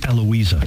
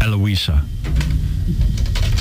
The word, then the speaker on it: Heloisa: is heloisa Vella but she the H is silent so it's eloisa ah eloisa and she's a correspondent